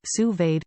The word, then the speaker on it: sous-vide: menu what to cook sous-vide pronounced sous-vade cooking offers the perfect